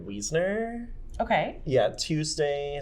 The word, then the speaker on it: Wiesner: But I believe that you pronounce his name David Wiesner.